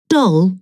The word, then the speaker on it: doll: like green and magazine doll will never rhyme with roll rolls like hole and